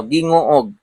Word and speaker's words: Gingoog: Misames Oriental mga yan ginguog ha guys. Marami pong nagkakamali sa pag-pronounce mga k mahirap nga naman i-pronounce guys. Yan oh. Guinguog yan City Misames Oriental mga que yan as of 5:30 p.m.